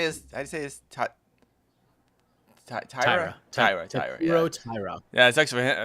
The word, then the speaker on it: Taira: Taira.